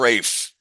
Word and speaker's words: Ralph: Rafe. Rafe. Yeah, Rafe. I Okay, think they Rafe. call him Rafe, even though Gotcha. it's spelled like Ralph.